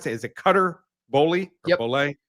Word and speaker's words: Cutter Boley: The quarterback for Kentucky, how do you pronounce that? Is it Cutter Boley? Yep. Boley? Cutter Boley.